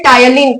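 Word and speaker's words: ptyalin: और नाम बोलते हैं टायलिन पी साइलेंट रहता है टायलिन समझ में आया कि नहीं पर टायलिन नहीं होता टायलिन पी क्या होता है साइलेंट होता है समझे तो मैंने बोला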